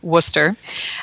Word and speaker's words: Wooster: you look at the spelling but is actually pronounced we say worcester and located in worcester we're about i would